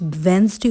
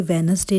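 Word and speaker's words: Wednesday: A drink together on वेंसडे। अब देखिए friends, वेंसडे होता है, ये वेनसडे नहीं होता है, इसका करेक्ट प्रोनाउंसिएशन है वेंसडे।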